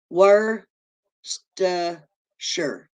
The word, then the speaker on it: Worcestershire: okay here we go with this word again were sure Worcestershire okay thank you see that's the problem I've always been trying to pronounce it Shire oh thank you you don't